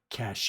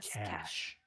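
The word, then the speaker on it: cache: he's so great he's like this word is pronounced what wow messy I see it is not cach it is cash and today today he did one he goes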